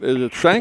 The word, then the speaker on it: Schank: Am I pronouncing your name right, Hana? Is it Schank?